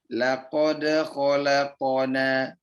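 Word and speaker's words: لقد خلقنا: Laqad khalaqna. Laqad khalaqna. Jangan sampai dia dipentokkan kepada hamzah. Laqad khalaqna. Ini maka kami ulangi sekali lagi. Cara bacanya adalah laqad khalaqna.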